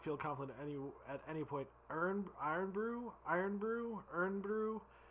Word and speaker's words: Irn Bru: We're gonna say it's Irn Bru. We'll pretend it's pronounced like iron.